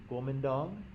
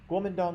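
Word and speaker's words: Guomindang: i think it's pronounced gomendong i'm not my mandarin is very rusty and that i don't speak any mandarin at all but i think it's pronounced gomendong guomendong are a political party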